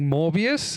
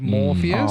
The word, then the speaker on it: Morpheus: Um, you were constantly saying MorbiiUS instead of Morpheus.